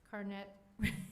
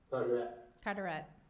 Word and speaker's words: Carteret: Are you teleconferencing from the location 420 Star Hill Drive, Cape Carnet? I keep mispronouncing this. Cape Carteret? Carteret. Is that right? Correct.